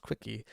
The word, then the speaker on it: CWCki: And then they made an entire wiki dedicated to Christian Weston Chandler called the Quickie, which is CWCKI, pronounced Quickie.